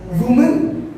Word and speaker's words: women: वुमन Women.